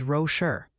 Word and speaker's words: Rocher: Also, quick PSA from the pronunciation police. Multiple sources confirm Prairie D. Rocher, Iowa is Rocher.